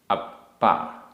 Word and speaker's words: अप्पा: एगो, एगो, में, सस्सदो, आधा सा पूरा सा, सस्सदो, अप्पा, आधा पा पूरा पा, अप्पा, णाण, दंसण, लक्षणों,